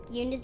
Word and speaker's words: Junna: And by the way, Yuna's name is spelled Junna, but it's a silent Z, so it's Yuna.